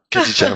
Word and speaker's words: Khadidja: Khadija, voilà, on prononce bien Khadija.